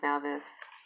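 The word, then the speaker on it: Nauthiz: It's pronounced now this.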